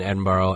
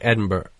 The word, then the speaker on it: Edinburgh: Way They Don't Really they don't pronounce their consonants okay so it's almost like Edinburg like it just kind of cuts off so once you